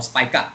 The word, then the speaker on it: Spica: One star that is much bigger than our sun is Spica or Spica, as some would pronounce it.